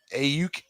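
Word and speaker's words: Aiyuk: Yeah, because he got 3 receivers averaging Samuels, I don't even Ayuk. That's how you say his name, and Jennings both. I forgot how to pronounce his name.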